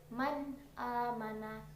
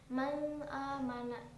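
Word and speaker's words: من آمن: Man amana nun sukun bertemu dengan a. Dan di sini juga cara membacanya harus jelas. Maksudnya di sini harus jelas. Tidak boleh samar-samar. Jangan manana sama sekali bukan hukum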